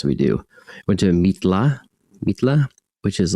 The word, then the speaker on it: Mitla: tombs and it has really cool It's like m i t l a Mitla is how you say it.